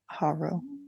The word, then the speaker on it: Harrow: Yeah, I say it with a soft A, huh? Yeah. Harrow. But I guess, yeah, like arrow with an H in front of it.